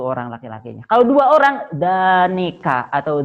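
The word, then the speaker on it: ذانك: Kalau dua orang, danika atau dainika. Danika atau dainika dibacanya ya.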